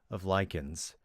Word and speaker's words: lichen: The mottled ground cover of lichens. Lichens? How do you pronounce that word? No, it's lichen.